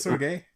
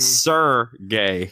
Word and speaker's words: Sergey: not Sir Gay.